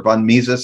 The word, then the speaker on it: Mises: be friedrich hayek uh ludwig von naisis or von mises i always mispronounced that one these austrian economists who said